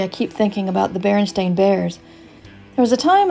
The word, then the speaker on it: Berenstain: said, wait a minute, they spell it Berenstain like stain on a shirt?